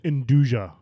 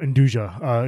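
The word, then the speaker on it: 'nduja: Indouja. It's almost like a I thought you were mispronouncing andouille. No, indouja.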